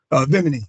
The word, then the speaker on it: Vimini: Vimini, like the island Bimini, but Vimini with a V.